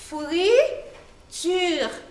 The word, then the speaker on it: friture: Este plato se llama, en francés, friture, pero casi misma como español, pero la pronunciación un poco diferente. Pero en español se dice fritura, pero en francés se dice friture.